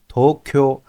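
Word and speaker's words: 東京: answer our first three questions again how to pronounce Tokyo in Japanese Tokyo what does Tokyo mean it means the Eastern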